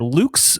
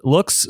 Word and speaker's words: Loox: Hannah works at Luke's... Loox. Sorry, I said that wrong. I've been so focused on how to pronounce things, and I'm just gonna let this fly.